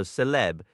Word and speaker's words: celeb: The letter C always has a K sound, even before E and I, so celeb is said like Caleb.